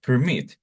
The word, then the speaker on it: permit: let's analyze this word permit permit okay permit it has two syllables and the stress is in the second word remember the stress is the intonation the rise intonation and look at to permit in the second syllable has a stress and ending in a